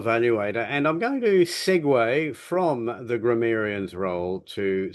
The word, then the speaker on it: segue: But segue, s Guue, pronounced segue, means to meld from one thing to another.